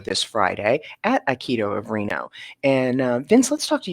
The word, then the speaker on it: Reno: have a show this Friday at Aikido of Reno.